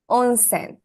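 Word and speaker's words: onsen: on you're right you're right hi it's on onen onen is the pronunciation hi own s is Hot Springs right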